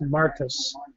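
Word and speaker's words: μάρτυς: It comes from the Greek word martyrs, or pronounced martus.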